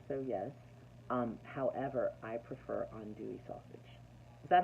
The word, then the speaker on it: andouille: I do andouille.